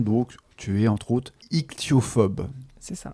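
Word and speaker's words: ichtyophobe: Notamment des poissons, donc tu es entre autres ichthyophobe. C'est ça. Pour le dire à la française, hein, parce qu'en anglais c'est c'est un peu bizarre avec les deux H à prononcer, mais ichthyophobe, bien.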